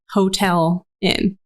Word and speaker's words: Houghtalin: It's just Hotel in.